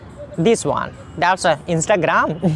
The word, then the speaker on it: Instagram: That's Instagram. No, that's not Instagram actually. That's called Instagram. Instagram. That's not Instagram. That's called Instagram. Instagram. Clear? You have to pronounce like that.